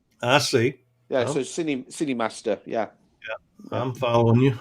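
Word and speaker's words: KineMaster: you know well i i took it as cine as in cinema but with a k i see yeah so sydney city master yeah yeah i'm following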